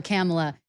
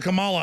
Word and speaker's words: Kamala: wrong the other night he always calls her camella and then he got scolded so i said kamala i'm right yeah i think so